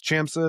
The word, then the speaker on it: ChamSys: And then we have ChamSys, Chamsys, I don't know how to say it right.